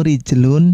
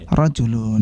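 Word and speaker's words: رِجْل: Antum lihat betul betul itu rijlun cara bacanya Rejel on karena ketika rijlun harokatnya dihilangkan maka bisa juga atau berpotensi untuk dibaca the cara bacaan yang lain yaitu rojulun ya jadi Antum di sini dilihat kaki itu adalah kita baca dengan rijlun Jadi kalau yang Antum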